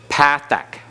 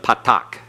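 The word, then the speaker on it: פתח: is what Pathak Pathak don't don't switch into modern Hebrew pronunciation of Patak okay Patak is what you'll hear on the internet Patak is what you'll hear some who use modern Hebrew pronunciation for teaching Biblical Hebrew but that causes confusion if you keep the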